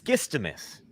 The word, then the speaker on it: Skistimas: And it's Skistimas is how you say the last name. Yeah, it sounds like it's spelled.